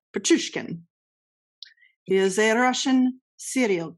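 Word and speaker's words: Pichushkin: Alexander now I'm going to say it wrong. Petrushkin. Now I said it right. Petrushkin.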